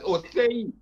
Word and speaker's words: Osei: Am I pronouncing that right? That's Osei.